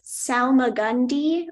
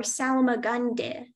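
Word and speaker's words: salmagundi: there any alternate pronunciations there's Salma Gandhi or Salma gande Salma Gandhi s a l m a g u n d y some Gandhi that is correct speller number 44.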